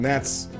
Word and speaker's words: gnat: Gnats. It's a gnat. It's a gnat. It's a gnat. Right. N-A-T. Gnat. With a G that's silent, like lasagna.